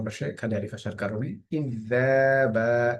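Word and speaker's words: كذابا: ইযযাবা, এখানে জালের উপরে খাড়া জবর আছে, এই কারণে একালিফ পরিমাণ টান হচ্ছে।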